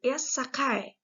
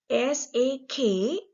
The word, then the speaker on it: sake: Actually, the word sake, sake, is pronounced sake, sakai in Japan language. Sakay is the pronunciation in the Japanese language.